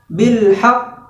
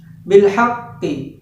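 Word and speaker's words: بالحق: bertasydid bangkit harus memahami misalnya bilhaq Oh itu cara pengucapan yang benar namun terkadang orang-orang membaca huruf bertasydid itu salah misalnya seperti ini beenhakker Amerika membaca huruf akhirnya seharusnya disukunkan ketika begitu harus disukunkan kemudian ditahan sejenak saya seperti ini bilhaq pkoh seperti itu ini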